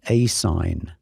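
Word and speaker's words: ASIN: required but notice this the as n generally pronounced asign this is the Amazon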